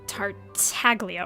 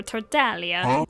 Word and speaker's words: Tartaglia: Um, Tartaglia or Tardalia. Why' I say that? So maybe I should not say it, but say things like that. But I think Tatalia is technically how it's supposed to be pronounced.